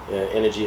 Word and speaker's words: NRGY: Energy is spelled NRGY.